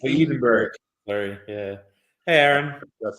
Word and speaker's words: Edinburgh: So no, Edinburgh. It's Edinburgh.